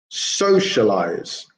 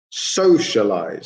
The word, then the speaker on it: socialize: we would say is we would say socialize socialize so so would be the stressed syllable for the first word but what would be